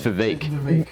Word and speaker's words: Vivek: No, it's Vivek. Vivek? Yeah, and everyone's saying Vivek or Vivek.